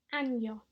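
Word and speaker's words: año: e or an Y is often incorrectly pronounced and means something very different without that squiggle on top of the N and the new pronunciation so repeat after me annyong and again and yo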